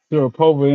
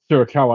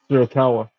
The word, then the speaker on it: Shirakawa: Sharapova in now against who's Sling Blade. I mean, Sharapova though. I like her. She's another one of my favorites on AEW. Shirakawa. I'm saying the name wrong. Shirakawa.